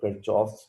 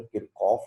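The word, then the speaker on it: Kirchhoff: और उन difficult circuits को सॉल्व करने की जो टेक्निक्स हैं वो किरचॉफ्स लॉ कहलाती हैं। बेसिकली इसका असल प्रोनाउंसिएशन तो किरकॉफ होता है, पता नहीं क्यों किरचॉफ कहा जाता है।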